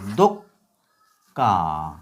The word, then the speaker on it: দোক্কা: দোক্কা উচ্চারণ কিরকম? দয়কারে দ কয় হসন্ত দক্কা দোক্কা দোক্কা শব্দের অর্থ দুই অথবা ধাক্কা লাগা এটা দিয়ে বাক্য রচনা লোকটি দুপক্কা খেয়ে মাটিতে পড়ে গেল।